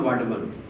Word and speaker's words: Vadhavan: In Marathi it is called Vadhavan. I mean, it is spelled differently in English, but it's a Vadhavan. That is how it is pronounced.